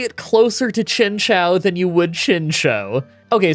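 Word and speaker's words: Chinchou: There's a bunch of videos on how to pronounce it. The first one says Chinchow. The second one says Chinshow. I'm going to say that it's Chinchow because I think it's supposed to be a Chinese name and you would say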